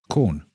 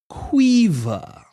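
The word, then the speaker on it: Caoimhe: Quaver. Yep, that's how it's pronounced. That's how it's spelled. C A O I M H E is pronounced quaver if you're Irish.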